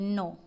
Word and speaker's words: know: नो।